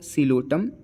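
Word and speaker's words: Psilotum: है तो यहां पे पी फॉर सि लोटम जो कि पी साइलेंट होता है एल फॉर लाइकोपस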